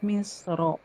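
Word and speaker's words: مصر: Eh, nah, boleh dibaca tebal da atau tipis. Jadi boleh tebal, boleh tipis ketika waqaf, tapi lebih utama dibaca tebal pada kata misro.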